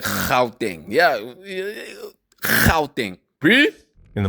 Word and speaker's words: Gauteng: You're supposed to pronounce Gauteng like Gauteng.